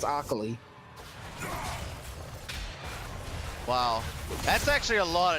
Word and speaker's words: Akali: Someone spelled Akali with an O now. Yeah, that's the other pronunciation, right? The like, well, I guess you could be really weird and be like, Okali. But I think that's Akali.